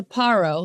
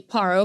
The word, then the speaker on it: Paro: And Yahuwah spoke unto Moshe, saying, go in, speak unto Paro. And you're wondering why I say Paro, because that is how it is pronounced in Hebrew.